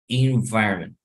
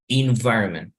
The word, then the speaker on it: environment: In, no en, we'll say environment. So you check the pronunciation again. Environment. Environment. So, lo que hago es desaparecer la última sílaba, hacerla tan débil que bueno, parece que no lo estuviéramos pronunciando.